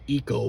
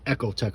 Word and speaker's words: Ecotec: that their echo tech some some pronounce it eco but uh i like to pronounce it echo tech or whatever you know i